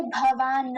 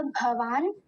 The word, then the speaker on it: भवान्: उसके नीचे हलंत लगाए, आधा है नकार, तो हम उसे भवान नहीं बोलेंगे। अगर वो पूरा होता तब हम भवान बोलते, लेकिन अभी आधा है तो इसका उच्चारण होगा भवान।